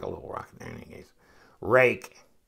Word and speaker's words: Ruike: little rock in his rake I I was calling him rique rook I mean I've heard it pronounced by different reviewers like different ways worse I think we're settling on rake this is a good